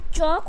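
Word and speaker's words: chalk: उसी तरीके से वॉक हो जाएगा, एंड चॉक हो जाएगा, यॉक हो जाएगा, एंड फॉक हो जाएगा। ओके, क्योंकि एल साइलेंट करना है।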